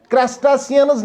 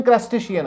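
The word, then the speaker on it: crustacean: और यहां इसको पढ़ते हैं क्रस्टासियंस नहीं पढ़ते हैं इसको, इसकी प्रोनाउंसिएशन क्रस्टेशियन है।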